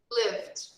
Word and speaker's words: lived: When we write, we just add the letter D. But when we speak, we just pronounce subtle D. Lived. Lived. When we speak, we just pronounce a very light letter D.